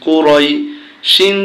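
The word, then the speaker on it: قريش: জবর ইয়া জজম রই কুরাই শিন দুই জেসি শিন কুরাইশিন যখন আমরা এখানে থেমে যাব তখন শব্দটা উচ্চারণ হবে কুরাইশ লি হামজা খাড়া জের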